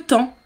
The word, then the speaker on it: temps: Attention, on écrit T-E-M-P-S. C'est très difficile. On entend juste temps.